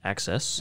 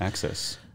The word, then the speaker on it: AXS: highly anticipated release highly anticipated yeah so it's their gx version of access axs pronounced access access um yeah wow i